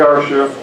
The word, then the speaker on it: Carcia: this is a joke our chef pronounced like Marcia right yes just don't call